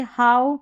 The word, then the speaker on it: how: एक तो ओ और एक आऊ करके होता है। अब ये इंप्रूवमेंट प्रैक्टिस से होता है। अब यहां पर देखिए हाउ नाउ काऊ। अब इसको हो नो या को इस तरीके से नहीं पढ़ रहे हैं कि ओ साउंड आ रहा है।